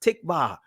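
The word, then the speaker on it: tikvah: Hope in the Israeli language is pronounced tikba.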